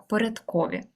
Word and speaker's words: порядкові: бувають кількісні і порядкові зверни увагу До речі на наголос так порядкові а отже ось порядкові